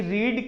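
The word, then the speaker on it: read: आर ए ए डी लेकिन उसका pronunciation change हो जाता है और प्रनंसीएशन क्या हो जाता है रेड इसका क्या पढ़ेंगे यहां पर रेड पढ़ेंगे बोलो क्या पढ़ेंगे रेड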